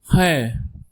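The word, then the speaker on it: ح: Next alphabet is he. Repeat after me. H. It's a deep H from throat.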